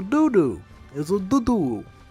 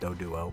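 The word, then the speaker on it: Doduo: It's a doo-doo. I know it's pronounced do-duo, but its name just looks like doo-doo.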